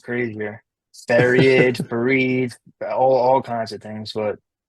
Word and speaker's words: Faried: Farad, did I say it right? Fareed.